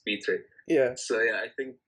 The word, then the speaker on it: Pitre: used to think it was Pitre, but now I'm learning it's Peter.